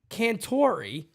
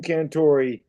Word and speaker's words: Cantore: bad dogs dead ringer you have Jim Cantore that's it's spelled t-o-r-e but yes Jim Cantore uh um but yes I've been told they look like Jim Cantor I've got a lot